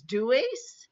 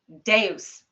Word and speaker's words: Deus: Yes, because the Latin word for God is, now I may be pronouncing this Mhm. incorrectly, but is Deus? Deus.